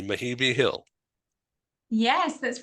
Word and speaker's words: Mehibe: uh first of all tell me if I'm pronouncing your name correctly mahii Hill yes that's right that's perfect yeah